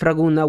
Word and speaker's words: Ragunna: city in Emilia Roma but if raguna was an Italian word that's actually how you would have read it even the way the